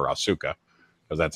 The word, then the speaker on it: Asuka: I am the biggest Asuka fan. I call her Asuka because that's how it's spelled, but Asuka.